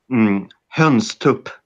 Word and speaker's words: hönstup: Hönstup. Hönstup? Okay. Okay. Pronounce höns like H, and then you take U with like a burn, like a really thick southern accent.